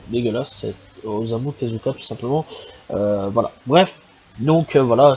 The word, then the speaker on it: Osamu Tezuka: du manga aussi l'enfant aux trois yeux de santos hameau tezuka qui simplement excusez moi je trouve que la prononciation dégueulasse osamu tezuka simplement voilà bref donc voilà c'est à dire